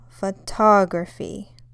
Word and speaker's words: photography: you can see that the stress in the first one is on the first o photo whereas the second one is on the second o photography it's where the most